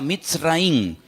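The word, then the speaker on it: מצרים: país de Egipto, que en la Biblia se pronuncia Mitzraim.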